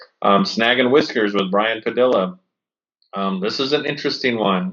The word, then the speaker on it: Padilla: Snag and Whiskers with Brian Padilla.